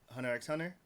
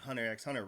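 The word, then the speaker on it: Hunter × Hunter: I keep saying what's named the founder of Hunter hunter yeah finally released the proper way to say it because everyone's been saying Hunter x Hunter wrong so what how how would it Takashi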